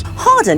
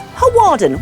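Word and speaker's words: Hawarden: fun and more mispronounced Harden is most commonly mispronounced as haarden which sounds really Posh but is wrong Harden is quite literally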